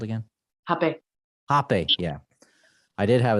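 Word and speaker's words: rapé: You can say it hape, some say it rape, but when you spell it and read it in English, it doesn't look good, that word. So we use hape with an H instead of an R.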